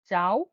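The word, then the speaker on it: ciao: সি কে চে বা কে হিসেবে উচ্চারণ করা হয় ইতালিয়ানে চে বা কে উদাহরণটা হচ্ছে চাও বা কাজা চাও বা কাজা মানে চেয়ে উচ্চারণ হলে চাও হয় দেখুন চাও চাও মানে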